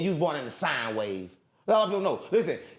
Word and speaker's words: sine: It's not sin. It's sine wave. Put a e on the end. How you how you saying that? Pronouncing that sine wave like gang sign for it.